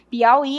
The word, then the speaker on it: Piauí: Veja que o i está na oxítona, é a última sílaba forte, então ele continua com